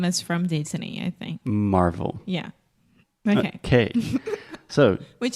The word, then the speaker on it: Marvel: Yeah, it's almost like marble. Marble is mármore. That's what you're saying. Yes, except with a V.